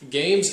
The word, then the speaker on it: GAEMS: affiliations and biases with the games company which is spelled like this as in games a little bit funny